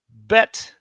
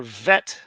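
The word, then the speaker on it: ב: Bet has two sounds, ba and va. So Gimel had two sounds with and without the dot, but now they are the same. Now it's g all the time. Mm-hmm. So we'll go over the names again, just the names of the letter. Names of the letters. Repeat after me if you're sitting on your couch. Aleph, aleph, bet, bet or vet, depending on if there's a dot.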